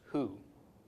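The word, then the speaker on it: הוא: word for he and him okay but is pronounced who and the word for she is spelled hey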